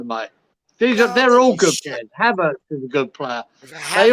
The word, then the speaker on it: Havertz: Hortzberg. Oh, Havertz.